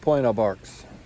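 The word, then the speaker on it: Pointe aux Barques: So it's pronounced Point of Barks.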